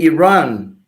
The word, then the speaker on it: Iran: with one Iran Iran you need to learn how to pronounce that word correctly let me say Iran yeah Iran it's not Iran it's not Iran Iran so sorry for that yeah sorry no no you're a journalist you love English so do I I'm trying to help you out you've helped me out tremendously thank you very much thank you very much I'm trying the proper way to pronounce Iran Iran and the other country